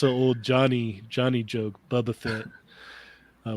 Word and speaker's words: Boba Fett: old johnny johnny joke boba fett uh we used to make fun of rich for pronouncing it bubba bubba fit yeah bubba fit where's